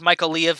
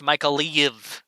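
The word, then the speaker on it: Mykolaiv: areas here first yeah as mother sake says michael leave is pronounced micah leave yeah michael leave i i know it's a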